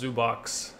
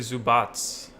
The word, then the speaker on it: Zubac: How come Doris Burke says Zubox? They always say Zubox. Where's the extra S, Chris? Is it? I don't know. Probably the European name, Serbian name. Yeah, Zubats. My bad. Is that how you say it? Zubats? Zubats. Yeah, It's actually Zubats.